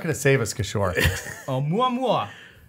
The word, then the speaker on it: Oumuamua: Oumuamua. Yes, which is like... Is that how you say it? Yeah, Oumuamua.